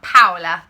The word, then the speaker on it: Paola: So it's not actually pronounced Paola, I've learnt this, I say it right now, Paola, there you go, the Paola top.